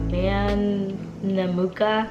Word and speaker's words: Mamanuca: We're going to the man Namuka. I think that's how you say it.